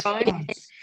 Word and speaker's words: prawns: The A in the spelling here, it's pronounced with almost like an O.